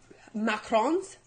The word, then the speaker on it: macaron: Macarons. Why do I actually don't know. Macarons? You're supposed to say it like that. It's like macaron, and macaroons. They're different macaroons.